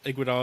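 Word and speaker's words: Iguodala: like like Curry like Iguidal is such a is that how you pronounce his name. You got it right. You got right.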